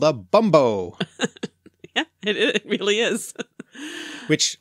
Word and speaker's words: bumbo: they're called, Mark, because you've had such joy pronouncing this word since I told you about the drink. Indeed. It's called a bumbo.